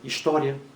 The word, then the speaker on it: história: A acentuação gráfica de herói não leva a mesma regra da acentuação gráfica de palavra história. História, paroxítona terminada em ditongo crescente.